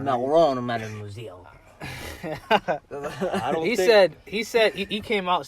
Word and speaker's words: Macron: He said, Macron. Gotta say it right. Macron, mademoiselle.